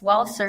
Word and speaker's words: Walcer: Mrs Carrie Ellen Wells waler is it yes waler did I pronounce that right Carrie thank you for joining